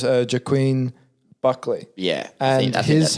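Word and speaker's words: Joaquin Buckley: it right because there's lots of ways to pronounce that name but it's uh jaquin buckley yeah and that is how you say his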